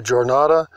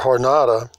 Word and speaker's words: Jornada: 1,000 years ago, the Jornada or Hornada, Mugion or Mongolian, there's 2 different ways to pronounce that.